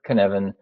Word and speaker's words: Cynefin: So, canvan is the phonetic pronunciation of it. It's a Welsh word.